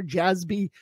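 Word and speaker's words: Jassby: s b y for jazz b it's pronounced like z's but it's spelled with s's uh and then be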